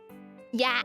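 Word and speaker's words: ja: for example yes yeah yeah yeah don't pronounce it like English J but more like a y yeah why yeah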